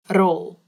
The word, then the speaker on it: rol: This one is funny because roll, all you have to do is roll your tongue on your mouth, so it makes the r sound like before.